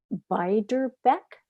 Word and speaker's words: Beiderbecke: Or you read about Bix Beiderbecke. Am I pronouncing that?